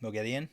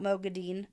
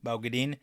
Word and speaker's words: Moghedien: And I love how they say her name correctly. Moghedien? Yes. Yeah. Not Moghedien. Moghedien.